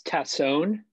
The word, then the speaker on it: Tassone: like it sounds yeah it's tatson um some people say tassone some people say